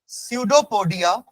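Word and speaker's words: pseudopodia: with the help of सूडो पडिया spelling dough पडिया प silent सूडो पडिया in amoeba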